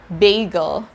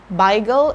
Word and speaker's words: bagel: is another word from yiddish language it's bagel bagel after my research i found out that the original pronunciation of this word is actually something like